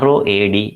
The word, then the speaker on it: road: So it is pronounced as road. Road accident.